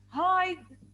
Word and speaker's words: hide: This is silent E, so I do not count it.